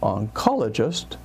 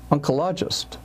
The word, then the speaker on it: oncologist: the speaker was saying rather than saying oncologist I heard unist unist it's almost like Uncle something uh rather than